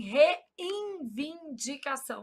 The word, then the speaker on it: reivindicação: Só para eu gravar que não existe N aqui. Qual que é o problema? A gente nasaliza esse N pronúncia. Se a gente fala assim, reivindicação, aí a gente sai colocando o molde N onde não e aqui ombridade com